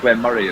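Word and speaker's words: Glen Moray: necessarily no I think we actually pronounce it Glenn Murray as well Glen Mur not like the eel yeah not like the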